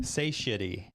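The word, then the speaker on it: satiety: no Sati No Sa how do you say it again say shitty it's just say shitty say shitty yeah like say shitty in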